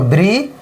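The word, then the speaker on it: bridge: देखिए बी आर आई से क्या हो गया? ब्री और डी को नहीं पढ़ना है। क्या करना है? डी को नहीं पढ़ना है। बल्कि जी ई से ज। तो ब्रिज ज ब्रिज।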